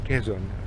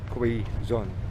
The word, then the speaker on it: Quezon: by the way his name is not even pronounced quezon so most filipinos pronounce it it's koizon so his house was demolished in new manila